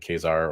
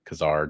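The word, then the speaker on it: Ka-Zar: land with saon and kesar or Kazar depending on how you prefer to pronounce that um Savage land action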